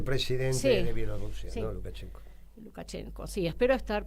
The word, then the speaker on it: Lukashenko: Lukashenko, sí, espero estar pronunciándolo bien porque cuesta.